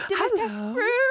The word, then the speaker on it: Dimitrescu: Dimitrescu.